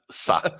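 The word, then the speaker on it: Sá: Oh, okay, I thought I got the Sa bit wrong. Nah, no, that's Sa. That's it.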